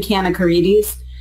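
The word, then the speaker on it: Kanakaredes: It's scary, like even Kanakaridis, you look at it and you're like, oh my God, there's so many letters. But it literally, there are no silent letters. It's exactly as it's spelled.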